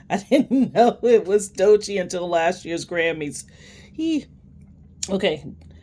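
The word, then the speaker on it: Doechii: I used to I used to pronounce her name Doichi. I didn't know it was Dochi until last year's Grammys.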